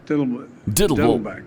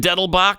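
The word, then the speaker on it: Dettelbach: nominate Steve Diddleback. Excuse me, I mispronounced your name. And it's still not Diddleback either. It's not Diddleback. It's Deadlewood. No, Diddlebach. Right? Oh, it is. Is it Deadlebach?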